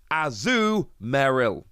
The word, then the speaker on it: Azumarill: i'm probably still butchering it but it is azu meryl azurill there we go that's how it's pronounced anyway that's not the most important thing